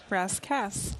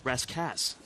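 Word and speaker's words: Rascasse: And what did we find out as far as the name pronunciation on our keelgrad spotlight? Rascass. Rascass.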